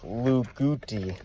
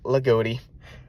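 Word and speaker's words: Loogootee: Um, if you're not familiar with the area, the way it's spelled, you might think it's Lugi. Don't know why I'm telling you this, but no, it's Lagoti.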